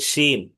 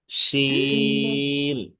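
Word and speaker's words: ش: এই হরফটার নাম হচ্ছে শিন। শিন। 3 আলিফ টেনে পড়তে হবে।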